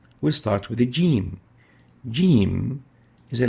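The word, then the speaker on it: ج: looks like this and is equivalent to the english g or j a very important note is to realize that the g could occasionally be pronounced as egg which has no similar letter in arabic our comparison with the english g is when the english g is pronounced as ish and not as egg like the g as in vegetable or j as in eject edge is articulating at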